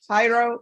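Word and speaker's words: Jairo: 626 state of Texas versus how do you pronounce his first name hyro hyro Rivero j a i r o so the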